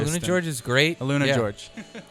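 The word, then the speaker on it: AlunaGeorge: Luna George. Do you like that? That's how you say it, guys.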